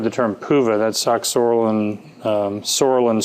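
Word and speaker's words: psoralen: And you may have heard the term PUVA, that's oxorolin, sorolin spelled with a P, and the UVA, and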